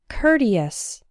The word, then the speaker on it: courteous: sport and poor court but in the words courtesy and courteous that same oh you are has an herb sound as in the words earn hurt and curtain courtesy courteous this sound is also